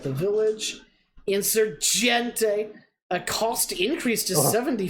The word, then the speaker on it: Insurgente: Insurgente.